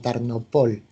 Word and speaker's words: Tarnopol: la llaman tarn pero los judíos refieren a ella Incluso como tarnopol con el acento en la última sílaba y es una ciudad